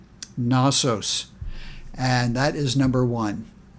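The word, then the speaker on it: Knossos: many times to that and so this is pronounced nosos nosos and that is number one as we go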